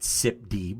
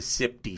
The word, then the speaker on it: SIPDE: Well, I pronounce it SIPD, but you can say it however you want.